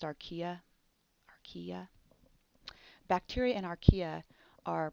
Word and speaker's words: archaea: I want to just make a note that bacteria and archaea, notice how I pronounced archaea?